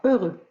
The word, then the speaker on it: heureux: Alors, heureux, on n'oublie pas le H muet. H-E-U pour le son E, R-E-U pour le son E, heureux.